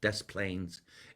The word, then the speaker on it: Des Plaines: D-E-S Plains, Des Plaines, Illinois.